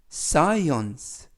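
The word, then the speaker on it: science: 뜻은 근육이 라는 뜻입니다 에스 는 쓰 그리고 뒤에 오는 씨는 묵음 이고요 i 는 i 이는 어 깨는 느 2 그리고 쓰이는 쓰 맨 끝에 있는 발음 하지 않습니다 묵음 이고요 그래서 싸이 온스 싸이 one's 라고 발음합니다 뜻은 과학 이라는 뜻이고요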